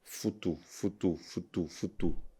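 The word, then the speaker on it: futu: Foutou.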